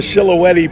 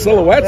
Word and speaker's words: Silhouette: There's not even an H in there. So we referred to it as the Shilohetti for years.